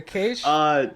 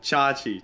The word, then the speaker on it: Chache: Did I say it wrong? Was it Cache? Chachi. Chachi.